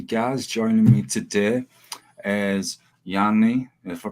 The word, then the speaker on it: Jani: Joining me today is Jani, if I pronounce that correctly.